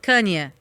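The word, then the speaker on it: Kanye: O marido da Kim Kardashian, que é o eh Kane West.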